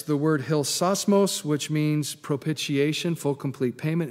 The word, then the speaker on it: propitiation: son to be the propitiation for our sins. It's a big $3 word, isn't it? Propitiation. Five syllables, wow.